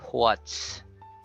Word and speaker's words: what's: With the WH sound, H, blow air first before you glide your lips. So it's like imaginary, you inverse the spelling. It's instead of WH, you say HW. You say what's. You say hua.